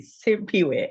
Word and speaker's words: Simphiwe: name is so beautiful we have to pronounce it correctly simp way I love it thank